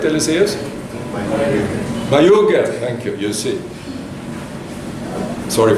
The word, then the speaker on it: Mayuge: I know that the School of Public Health has initiated the Iganga Mogaye. Is that, how do I pronounce it correct, Eliseus? Mayuge, thank you, you see.